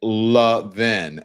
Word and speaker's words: Levin: He pronounces it Levin.